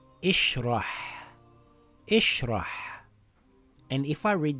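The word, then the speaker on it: ٱشْرَحْ: Is there a lam after Hamzatul Wasl? No. So it's not a fatha. Does the third letter have a dhamma? No. So it's not a dhamma. It can only be a kasra. It reads ishrah.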